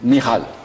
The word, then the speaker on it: Michal: Michal. Voilà, c'est la prononciation hébraïque.